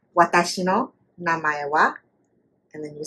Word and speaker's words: watashi no namae wa: Watashi no namae wa, and then you say your name. Say that again. Watashi no namae wa.